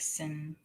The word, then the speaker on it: Cindr: So cinder is pronounced like cinder, like sinner.